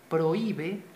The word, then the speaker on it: prohíbe: esta H, pero como la H no suena, prohíbe, o sea, escuchamos la O unida a la I, entonces se forma un hiato, dos vocales unidas en pronunciación, pero que están en sílabas diferentes.